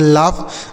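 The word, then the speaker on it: laugh: इस ए और उ यू का उच्चारण अ जी एस ए फ इसे पढ़ेंगे लाफ मतलब क्या होता है?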